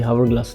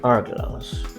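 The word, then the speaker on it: hourglass: here no इट्स एयर हावर ग्लास ये हावर ग्लास नहीं pronounce as आर ग्लास last but नॉट द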